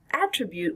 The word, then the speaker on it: attribute: So attribute was the noun, and the verb is attribute. Attribute. Here the stress is on the second syllable, attribute.